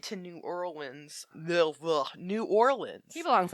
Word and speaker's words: New Orleans: but they stopped in new orleans i can't ever say it right new orleans new orleans nollins nollins there we go and nylons and uh